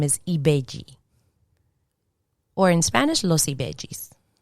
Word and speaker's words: Ibeji: I never heard the N being pronounced. Agayu. Shango. Shango. And in Spanish, chango. So the sh turns into a ch. Ibeji.